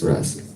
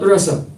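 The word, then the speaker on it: rāsa: so special about this rask what is it right the word is not rasa the word is ras you see it's with a long a it's not is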